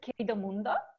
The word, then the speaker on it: Querido Mundo: say the name correctly okay so yeah the pronunciation is KP de mundo you did a very good job Teddy and